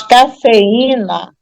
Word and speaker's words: cafeína: paroxítona terminada em e mas cafeína eu vou ter acento no i que é a sílaba tônica e Tá formando iato dá para corrigir irmão